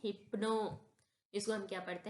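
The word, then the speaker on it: hypno: मैं यहां प्रोनाउंस कर देती हूं। इधर लिखा है इधर लिखा है हाइपो नहीं पढ़ेंगे हम इसे। इसे हाइप्नो नहीं पढ़ेंगे। इसको हम पढ़ते हैं हिप्नो।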